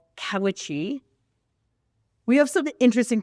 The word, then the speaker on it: Cowiche: He's going to go to a local town nearby called Cowiche. We have some interesting pronunciations in this episode. I'm doing the best. Cowiche, right?